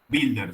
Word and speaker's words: Wilder: Wilder se pronuncia.